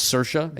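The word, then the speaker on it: Saoirse: pronounce her name too it's cersa like Sarah you said it you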